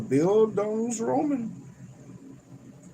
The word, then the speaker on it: Bildungsroman: That's how it's pronounced. A Bildungsroman.